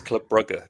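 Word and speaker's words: Club Brugge: you are you a are you a correct pronunciation man it's it's Club buger is that's the prop is that how is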